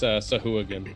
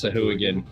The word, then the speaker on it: Sahuagin: Hang on, I'll see how they pronounce it on D&D Beyond. There you go. It's Sahuagin. It's Sahuagin.